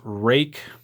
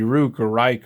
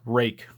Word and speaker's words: Ruike: it's spelled rui ke it's pronounced rake because it's Chinese and it's not English so in English it would be rude or Ike or something else but